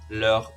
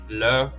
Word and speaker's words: leurs: When it's a group of people, it's still leur, but with a silent S. For example, leur père is their father, leur mère is their mother, leurs parents is their parents.